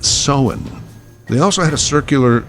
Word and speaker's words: Samhain: Now, it is spelled Samhain, but it's pronounced Samhain.